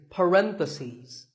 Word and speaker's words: parentheses: If you're talking about both, the plural is parentheses. The last syllable becomes C's. Parentheses.